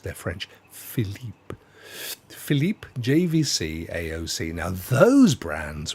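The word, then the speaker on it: Philips: Phillips or as it should be pronounced they're French Philip Philipe JVC AOC now those brands we have so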